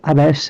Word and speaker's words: abash: तो ये पहले वाले में जो प्रोनाउंसिएशन है वो अबेस है और दूसरे वाले में जो प्रोनाउंसिएशन है वो अबैश है, ठीक है। यानी स और श का अंतर है, यानी एक वाले में